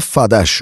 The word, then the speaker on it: FADH: Burada oluşan da FADH (FAD haş diye okunur) oluyor.